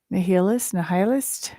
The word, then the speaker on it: nihilist: Nihilist? I should have looked at the pronunciation. I've got the description open. Oh, you don't hear the H.